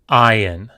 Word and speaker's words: Ayin: Ayin. Ayin. Just like Aleph, it was originally pronounced. It had an original sound, but that sound is lost today. So just like Aleph, we do not pronounce the ayin.